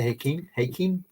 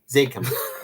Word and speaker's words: Zakim: This is the how do you say the Hakim? Zakim.